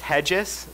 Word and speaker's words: Regis: It's actually pronounced Hedges, even though it's written Regis.